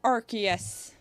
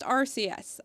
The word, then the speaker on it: Arceus: Okay, so I'll call it Arceus from this point forward for the rest of time. Even though I swear it used to be pronounced Arceus, and I swear I saw it pronounced that